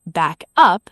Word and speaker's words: back up: As a phrasal verb, back up, stress on up, has several meanings.